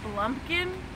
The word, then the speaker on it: blumpkin: it's called a a blumpkin um it's spelled b l m p blond King blump King ah blump King yes what is a Blum King sounds like pumpkin well it's actually uh